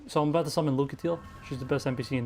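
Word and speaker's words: Lucatiel: I'm about to summon lucatel she's the best NPC in the game but I think she's gonna die because she's gonna get pushed off a ledge lucazio that's how uh Miyazaki pronounces yeah Mickey Mickey's awesome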